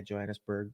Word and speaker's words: Johannesburg: Yeah, Johannesburg.